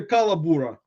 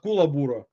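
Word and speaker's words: kookaburra: incorrectly as you know it's probably calaburra not kulaburra but you can correct me calaburra flipper probably pronounces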